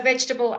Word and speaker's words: vegetable: long lengthy word uh the e in the middle are not said at all okay so vegetable and I you know as we go through as I as I go through pronunciation with people you will find very often in the middle of a very convoluted word uh no um pronunciation of the E vegetable okay so here we're